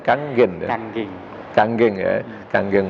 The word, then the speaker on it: Kangen: Kangen motor. Kalau seorang Jawa baca tulisan gitu bacanya kangen, harusnya bacanya kanggen ya.